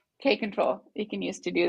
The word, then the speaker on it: kapp-control: K-control. K-control.